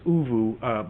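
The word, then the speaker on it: ooVoo: Mark Shue is asking, what is Uvu? Mark, it's a video chat program. It's a free program that's out there. It's spelled OVOO, all one word, all the letters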